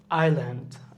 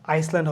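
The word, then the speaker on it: island: আইল্যান্ড আইসল্যান্ড হবে না আইল্যান্ড debris S উচ্চারণ হচ্ছে না কিন্তু ডে হচ্ছে ভাই ভাই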